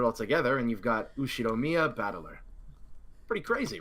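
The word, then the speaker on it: Ushiromiya Battler: the characters for fight and person and is pronounced batt put it all together and you've got usid Mia batt pretty crazy right it's crazy enough that my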